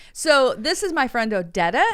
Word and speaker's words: Odeta: like it thank you if you want to say my name the proper way it's odetta yeah how did you